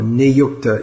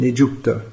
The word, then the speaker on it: niyukta: So it gives the same idea as nijukta or niyukta in standard pronunciation, nijukta in Bengali pronunciation.